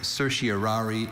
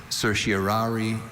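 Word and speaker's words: certiorari: Are there any alternate pronunciations? There is cersiary. Cersiari and cerseri. Cersiaryi. Could you repeat the word please? Cersiaryi. Cersiari. Cerserari. Cersiari. Cersiari. C E R T I O R A R I. Cersari.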